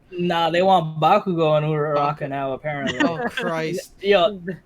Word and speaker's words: Uraraka: Yeah, it's supposed to be Uraraka, her and yeah. Deku. Like there should not be another one. Nah, they want Bakugo and Uraraka now apparently.